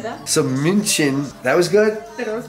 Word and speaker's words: München: So München, that was good? That was good. Is Munich. We just spell it different because no one in America can say München.